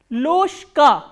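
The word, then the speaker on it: ложка: Loshka. Why Loshka? Because again there is a voiced consonant coming before the voiceless consonant. So, what happens is this voiced consonant will be pronounced as its voiceless counterpart, which is sh.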